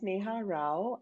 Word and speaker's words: Sneha Rao: uh my name is neha rao it's spelled and pronounced the same way and i am a